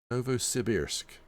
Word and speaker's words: Novosibirsk: And Soviet supercruiser Novosibirsk. Novosibirsk. Now, you might think that sounds like an incorrect pronunciation, but it's not. That's the southern Russian pronunciation.